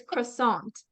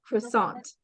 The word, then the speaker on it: croissant: um pastry and so it has a French pronunciation iation it's croissant so the a isn't pronounced like sharply it's pronounced with um more of a lower tone so it's croissant croissant croissant yeah croissant so that's that's a